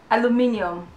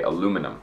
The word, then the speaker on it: aluminium: the correct pronunciation because english people like british people say aluminium yeah canadians and i'm pretty sure americans we say aluminum we don't say the eom it sounds and i'm pretty sure we spell it without the i in like the neon part yeah we just spell